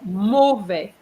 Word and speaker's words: mauvais: You said mauvais instead of mauvais. Mauvais. All right. So the AU, remember, each time you see AU is going to be the sound O, not U.